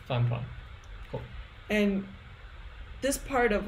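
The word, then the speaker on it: 饭团: Fan tuan. Ah, I remember tuan. I forgot fan. Oh, of course, rice. I should have remembered that. That's the obvious part. 饭团. Fan tuan.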